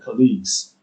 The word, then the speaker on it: colleagues: It's not Z, it's Z, colleagues.